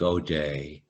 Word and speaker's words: O'Dea: thousand followers and quotations and o'day spelled oh apostrophe ea like my name is spelled i have an uncle